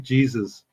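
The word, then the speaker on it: Jesús: What's the one that's spelled like Jesus? Jesus. Jesus. No, I don't see how you get Jesus out of that spelling. Jesu, because the J is an H.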